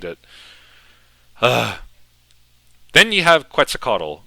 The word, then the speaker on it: Quetzalcoatl: huh then you have Quetzalcoatl I know it's meant to be pronounced like quite say coatal or something like that but I grew up saying quetzacado and he is the